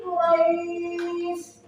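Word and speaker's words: قريش: Mad artinya panjang sedangkan lain artinya lunak. Jadi dibacanya pelang lunak. Quraisy.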